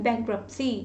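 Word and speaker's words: bankruptcy: बोलने में इसमें टी साइलेंट होता है, बैंक बैंकरप्सी, बैंकरप्सी नहीं बोलते, टी साइलेंट होता है।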